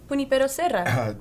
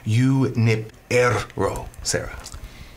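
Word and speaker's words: Junípero: the pope is here pipo it's actually pronounced Yip ero sah it is pronounced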